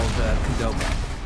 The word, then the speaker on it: Qdoba: It's we have something very similar in Canada to Chipotle called Qdoba, and that's basically that's spelled Q-D-O-B-A.